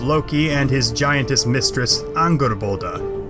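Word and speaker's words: Angrboða: and his giantess mistress anger bolda and yes i am pronouncing that correctly i checked and while he doesn't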